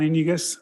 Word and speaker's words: Iniguez: Next, we have Iniguez, followed by Tom Nelson. Thank you for pronouncing my name correctly. My name is Iniguez.